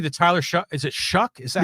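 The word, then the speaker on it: Shough: is a kind of is it s o u g h s h o u g h oh but it's called shuck shuck y all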